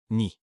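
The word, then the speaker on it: knee: Une jambe c'est à une jambe est composée de la cuisse, thig, du genou, ni. Attention à la prononciation, le cas et muet.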